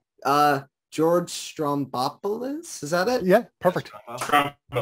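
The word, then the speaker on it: George Stroumboulopoulos: interview with um i don't know how to pronounce this guy's name uh george strombopolis is that it yeah perfect thank you i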